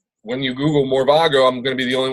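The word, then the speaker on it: Morevago: you can go to mor e V AG o that's pronounced more vago and I did it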